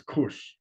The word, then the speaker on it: Kush: And Kesh, the use is pronounced as Kesh, but it's Kush.